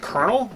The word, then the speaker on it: colonel: as an honorary active colonel so i i never understood why that word is pronounced kernel when there's no r in it but whatever english is